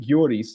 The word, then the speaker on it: Goris: Anyway, so in Syunik, one thing, we were in Goris, and we were in, like I said, we were in Datev. In Goris, it's interesting because, or actually Gyoris, that would also be like the local pronunciation, but the Artsakh flags are everywhere.